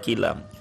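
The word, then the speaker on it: كلام: Ini enggak bisa dibaca adal kalim. Sebab ini enggak bersajak dengan ini. Harus dibaca adal kilam. Harus dibacanya kilma. Enggak boleh kalimah.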